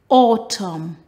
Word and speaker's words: autumn: with that known knowledge words that end with m n the last letter is silent the n autumn column con dem damn